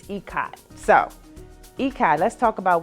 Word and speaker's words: Ikat: I figured out during my research this week when I wanted to present this topic that I had been pronouncing it wrong. So I've been saying Ikat and it's Ikat.